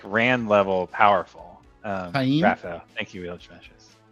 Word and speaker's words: Taim: Okay, sorry, I know that's not related to this chapter, but it's just low gain is so different from Taim, right?